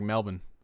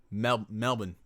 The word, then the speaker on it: Melbourne: The way you pronounce Melbourne, I'm dead. In Australia, we pronounce it like Melbourne. Melbourne.